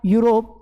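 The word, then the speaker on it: Europe: दिए जैसे मैंने एक और शब्द लिख दिया यूरोप मैंने क्या लिखा यूरोप यह भले ही से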